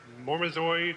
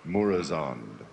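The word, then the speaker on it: Murozond: In the upcoming 4.3 End of Time, we get to kill, how do you pronounce it? Mormazoid, or the evil Nosdomo? Murazond. Thank you.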